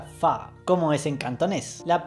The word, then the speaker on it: Fa: en Mulan el apellido de su familia se pronuncia fa como es en cantonés la pronunciación correcta en